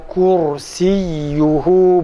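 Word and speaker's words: كرسيه: Buna göre kalın ra harfini telaffuz ederken kürsi kelimesini kursi şeklinde okumamız gerekirken Türkçedeki telaffuz gibi kürsi diyoruz. Örneğin vesi'an kursiyyuhu şeklinde telaffuz ediyoruz. Halbuki bu yanlıştır. Doğrusu ise vesi'a kursiyyuhu vesi'a kursiyyuhu.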